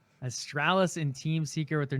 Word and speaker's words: Astralis: and australis awesome also i always want to call them like also like it's completely wrong don't butcher their name john come on you're better than that astralis and team seeker with